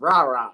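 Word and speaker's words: Rara: good ball he likes rah-rah Thomas and I love saying that name every time I see it Robert Thomas number one receiver Mississippi State come on now his name is r-a-r-a it's just rah-rah that's that's the best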